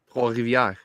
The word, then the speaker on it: Trois-Rivières: Hey, how do you say Trois-Rivières, Eric? Trois-Rivières. You put the French accent to it.